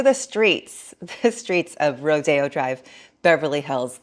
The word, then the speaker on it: Rodeo: About a year ago, I took to the streets, the streets of Rodeo Drive, Beverly Hills. I don't know why it's called Rodeo when it's spelled Rodeo Drive, but anyhow, the place is bustling with LARPers, young people pretending to be rich.